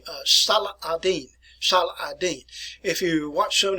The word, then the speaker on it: Salah ad-Din: by the name of Salah ad-Din. If you watch some of the movies about the Crusades anyway, they were referred to him as Saladin. But proper name, proper pronunciation is Salah ad-Din.